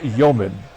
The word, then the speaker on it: Youmans: I think the S is silent, right? It's Floyd Youmans.